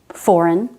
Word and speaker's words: foreign: Also GN at the end of a word. Design, sign, rain, foreign, assign, campaign.